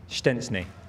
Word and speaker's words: Szczęsny: You somehow made it sound like there was a T involved. Is there not? Not true. Show the clip. Wojtek Szczęsny.